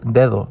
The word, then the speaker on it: dedo: Because the first D is after a pause, we make the hard D sound. Since the second D occurs after a vowel, we pronounce it as a soft the sound. So we get the word dedo, not dedo.